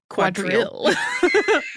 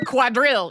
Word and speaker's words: quadrille: were introduced into English it just became quadril or quadrille yes I used to have a um acquaintance who I met through the family who would say quadral sure I got a very short clipped version of it which is quite cute